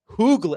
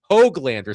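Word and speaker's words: Höglander: Nils Hoogle sorry, Hoglander.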